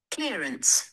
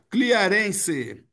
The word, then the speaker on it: clearance: Não se pronuncia o último e.